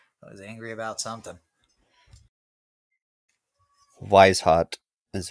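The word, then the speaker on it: Weishaupt: they're always angry I was angry about something wise hot is how you pronounce it wise hot so Adam we hot is the one who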